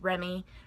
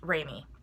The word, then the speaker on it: Remie: say, I know her name looks like it's pronounced Remie because of the E there, because of the first E, but it is pronounced Remie.